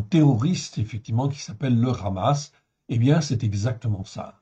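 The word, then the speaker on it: חמס: has mais en réalité c'est un H qui se prononce comme un comme un r ça vient du fond de la la gorge c'est presque un r donc c'est ramasse en réalité le vrai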